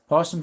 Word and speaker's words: opossum: Possums are reluctant to be guests in live streams, I guess. Yeah. Let's see here. The O is silent, usually. A possum.